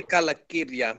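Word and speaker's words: Calacirya: The word I'm not going to try to pronounce on the internet. As cool as that is. Shut up. Leave me alone. Technically Kalakirya, but it's okay.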